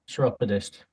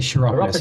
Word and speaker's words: chiropodist: chiropodist. He says a kind of a hard C. I would say chiropodist.